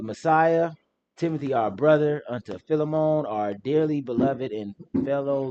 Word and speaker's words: Philemon: Oh, Philemon. Philemon. What's wrong with you? Philemon. That's how you pronounce it, but you know.